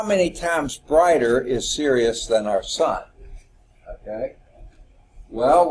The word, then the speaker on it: Sirius: sky what do we say it was serious okay now it's not spelled like are you serious as si RI a us absolute magnitude of 1.4